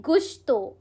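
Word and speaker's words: gusto: हमारा next word है गुस्तो। It's pronounce S गु। आप जब स्पेनिश लैंग्वेज सीखोगे ना तो इसमें ये वर्ड आता है गुस्तो।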